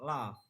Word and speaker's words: love: Kata kedua love, pengucapannya love. Penjelasannya O diucapkan seperti A.